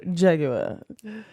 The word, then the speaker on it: Jaguar: No, but I love the fact that you actually pronounce Jaguar properly. Yeah, Jaguar.